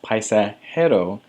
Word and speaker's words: paisajero: Anytime you see the letter J in Spanish, you're going to pronounce it like an H. So that's why it's pronounced paisajero and jardinero.